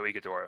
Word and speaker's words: Ighodaro: Issa Ogadoro, if I'm pronouncing the name right. Oso Ighodaro.